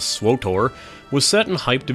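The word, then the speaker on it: SWTOR: Wars the Old Republic abbreviated SW and pronounced by me as swor was set and hyped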